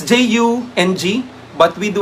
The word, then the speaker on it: Jung: do not say john we do not say carl jung we say carl jung it's jungian okay because carl jung is actually um i think um jung is um a swiss psychologist so that's how they say it they do not say carl jung we just say carl jung so under jungian perspective